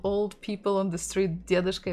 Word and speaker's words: дедушка: The full form would be дедушка, дедушка, stressing the first syllable, дедушка, дедушка.